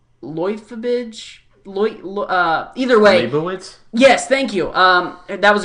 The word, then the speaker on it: Leibovitz: Annie, and I'm going to say her name wrong. Leibovitz? Either way. Leibovitz?